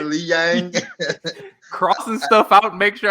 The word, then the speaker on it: Li Jianliang: I got it written out phonetically next to me. Yeah, I do. Right, you got a Y in there, like a Li Yang.